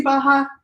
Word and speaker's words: Barra: So Baja? R's in Portuguese are like J's in Spanish. Okay, so They're Baja. pronounced ha. Okay, so describe Gracie Baja Lake Charles in 10 years from now.